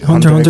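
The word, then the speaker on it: Hunter × Hunter: dub versions or Geass is something on it, Hunter x Hunter so I just with didn't Dex. watch it. But it was In just my dope. opinion. I never watched Hunter X. Hunter x Hunter is in good.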